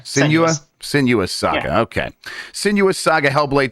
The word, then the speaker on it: Senua: you know I always wanted to say sinua senua Saga sen senua Saga okay senua Saga hellblade 2 uh they have